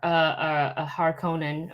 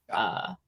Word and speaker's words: Harkonnen: So he's going to be a Harkonnen, or however you pronounce. Harkonnen, the Harkonnen.